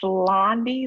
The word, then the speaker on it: Loundie: It's Loundie, like Blondie, but without the B.